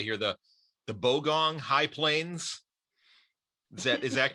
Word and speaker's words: Bogong High Plains: i i want to try to get the pronunciation correctly here the the bogong high plains is that is that correct yeah that's correct